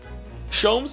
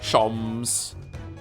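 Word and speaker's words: Sholmes: Shoms is pronounced the same as JS. Shoms. Herlock. Shoms.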